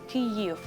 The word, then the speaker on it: Kyiv: The same goes for Kyiv. That's what we try to tell all around the world to people, to pronounce correctly how it's supposed to be.